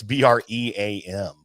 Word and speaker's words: bream: brim is but uh I think it's b-r-e-a-m so uh which I think you'd pronounce bream if you were uh phonetically smelling it but uh but we're